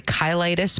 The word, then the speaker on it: cheilitis: Um, so apparently it's cheilitis. Although I technically I looked into how you actually pronounce it. Apparently it's actually ky-litis, but it looks like cheil- cheilitis.